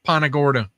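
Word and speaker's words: Punta Gorda: It's Pan Well, down there it's pronounced Pana. Panagorta.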